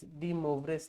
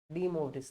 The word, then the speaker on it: De Moivre's: Now next theorem comes is De Moivre's theorem. Just I will spell it for you. DE dash Moivres. De Moivre's theorem.